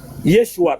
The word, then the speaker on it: Yeshua: Ah, ça se prononce comment? Mais j'ai lu Yeshua. Yeshua, très bien.